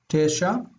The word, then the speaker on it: תשע: Tesha. The accent is on the first syllable.